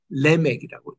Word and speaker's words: 라멕: 히브리 말로는 레믹이라고 읽는데에 스골 스골 이게에 모음이 두 개 겹친 것은 앞에 음의 엑센트를 두라 그래서 레맥이라고 읽어요.